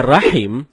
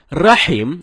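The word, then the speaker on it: رحيم: Rahim artinya yang maha penyayang. Sedangkan Rahim artinya maha merdu. Bacaan yang benarnya insya Allah dengan huruf H. H dalam tenggorokan. Jadinya Rahim, bukan Rahim.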